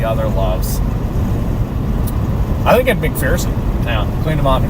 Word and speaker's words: McPherson: I've always said McPherson, Kansas. It sounds like a Kansas town name. But come to find out, it's actually McPherson. And I can't wrap my head around that. It made me sad when I heard that it's actually not pronounced McPherson.